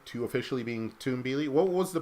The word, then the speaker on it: Tumbili: Apparently, they changed the official pronunciation to Tumbili. What was the pronunciation before? Tumbili?